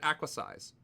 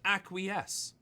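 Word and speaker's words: acquiesce: Acquies. When I first encountered that word, it was in a book, so I called it acquis. If you acquize with the enemy, you know, you you might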